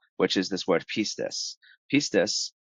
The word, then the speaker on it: pistis: Pistis, or pistis, however you want to pronounce it, pistis.